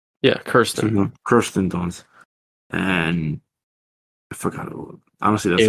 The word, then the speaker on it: Kirsten Dunst: saw Civil War, which was directed by Alex Garland and stars Kristen Dunst and did I say it right? Yeah, Kirsten Dunst, and I forgot.